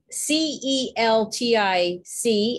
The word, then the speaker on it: Celtic: For the most part, that word should be pronounced Celtic.